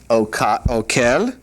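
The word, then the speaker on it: אוכל: All right, the accent when this is done is on the last syllable, and so this is kotev, and this one up here we were looking at earlier, this is okel, and so that's where the accent is.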